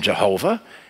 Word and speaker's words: Jehovah: But sometimes it's pronounced as a V, as in Jehovah.